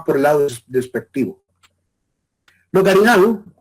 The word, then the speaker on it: garinagu: a todos, es más garinagu. Los garinagu o también calinagu, dependiendo del lugar donde se haya pronunciado este nombre, que los caribes también tenían su forma de pronunciarlo, esa es la etnia